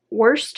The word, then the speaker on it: Worcester: a woman named lady wurster i think that's how you say it oh i'm sorry no r worcester lady worcester who knew w-o-r-c-e-s-t-e-r worcestershire no it's not even the same word no you actually pronounce it worcester so lady worcester shows